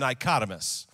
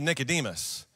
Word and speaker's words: Nicodemus: i taught a message about a guy named nicotis for those of you that don't know he's in john chapter 3 and his name is really nicodemus or when i taught a whole message one